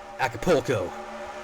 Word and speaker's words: Acapulco: Acapulco. That's how the Americans say it.